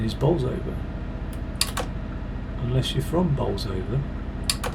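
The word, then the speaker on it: Bolsover: close to the motorway but um the correct pronunciation is balls over unless you're from bowls over and then it's bowser so google might go with the correct pronunciation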